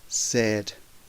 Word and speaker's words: said: So the past simple and past participle is pronounced said, said.